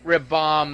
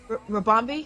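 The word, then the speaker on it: Ribombee: How do you pronounce that? Ribombay. Anyway, Rabombi? Yeah.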